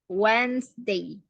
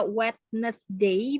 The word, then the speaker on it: Wednesday: baca Wednesday Wednesday wesday wedesday W wedesday Jadi bukan dibaca wetness Day bukan he wedesday w w Day coba Wednesday ya Wednesday ya cara bacanya gitu oh wedesday Tuesday